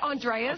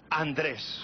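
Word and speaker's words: José Andrés: been saying it wrong I've said Andreas okay this is Spanish class Jose Andres Jose Andre and I'm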